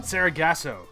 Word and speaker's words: Sargasso: How do you pronounce the name of the episode? The next week? Ghosts of Sargasso? Sargasso.